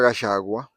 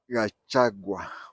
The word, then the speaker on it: Gachagua: The name is spelled Gachagua. Gachagua. But Kikuyus from Kiambu and Murang'a, they pronounce it as Gachagua. Gachagua. The C, they replace it with an S. So it is Gachagua. Non-Kikuyus pronounce it the way they read it, Gachagua. But Kikuyus from Kiambu and Murang'a pronounce it as Gachagua, as if it is SH, Gachagua. But Kikuyus from Nyeri, they pronounce it different, Gachagua.